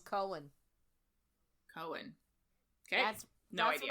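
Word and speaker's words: Koen: say his name um k o e n s I call him Cohen Cohen okay that's that's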